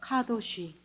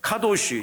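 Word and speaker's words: קדוש: 반대쪽에서 저렇게 쓴 자를 히브리어 발음 기호 따라 읽으면 카도시가 되는 것입니다.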